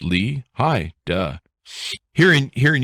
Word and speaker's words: Lehigh: how are you i am well and it's lehigh valley lehigh wow okay there you go i i mean technically it's lee hi duh here in here in utah where we're